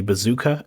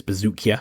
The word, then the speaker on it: Buzukja: I kind of wish Dennis Buzukja's name was actually Bazooka, as a lot of people seem to pronounce it, because that would make it the coolest surname we've ever heard. But alas, apparently it is Bazukja, according to John Anik.